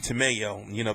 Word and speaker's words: Tamayo: Jonathan Oquendo, Victor Archinian, you can't count Ruben Tamayo, because his name rhymes with tomato, and he fought Gary Russell Jr.